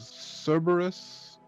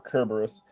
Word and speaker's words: Cerberus: the fates yes um cerberus or kerber service or kerberos no one can agree how we were supposed to actually pronounce it it's a whole thing but i prefer saying cerberus because that's just how i grew up saying it and i'm not